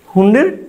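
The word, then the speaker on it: Hund: German পদার্থ বিদ এইযে হুন্ড নীতিটা আসলে একজন পদার্থবিধি প্রবর্তন করছে তো জার্মান পদার্থবিদ ফ্রেডরিক হারমেন হুন্ড ফেডরিক ফেডরিক ফ্রেডরিক হারমেন হারমেন হুন্ড হুন্ড হুন্ড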